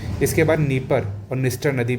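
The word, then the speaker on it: Dnieper: है ये इंपॉर्टेंट है नी परर नदी को डनी परर भी कह देते हैं ठीक है लेकिन डी साइलेंट रहता है आगे चलते हैं अगली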